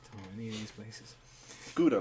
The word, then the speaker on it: Gouda: Gouda, like the cheese, but it's pronounced Gouda.